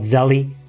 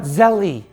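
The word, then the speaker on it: Zelle: Zelly. Is that how you pronounce it? Zelly, the interbank payment system. It's not Zelly, it's Zell.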